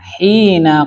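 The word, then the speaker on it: حين: Hina itu kok enggak hinu ya? Kok hina ya? Nasab itu kenapa nasab itu? Dorob. Hina itu apa Pak? Dorob. Maka bacanya hina, enggak pernah hinu ya.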